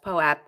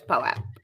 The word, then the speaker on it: POAP: funny is we have someone in our chat trying to tell us poap rhymes with soap but guess what you're only in our chat and we get to talk talk so it's poap no it's not actually you're wrong I've actually had this